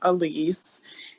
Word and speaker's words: Elise: and it looks like elise and apologies if i'm mispronouncing your name but please go ahead hi now you pronounced my name correctly it's elise and i'm joining you